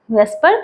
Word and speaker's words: VSEPR: ई प are theory इसे pronounce किया जाता है पर theory V ई एस पी आर से प्रोनाउंस किया जाता है जबकि इसका ओरिजिनल जो शॉर्ट फॉर्म है वो वी एस ई पी आर है जबकि हम प्रोनाउंस करते हैं बीई एस प आर क्योंकि हमारे लिए इसका प्रोनंसिएशन करना कन्वेनिएंट है बीई एस प आर से इसलिए हम वेस्पर थ्योरी बोलते हैं जबकि लिखा जाता है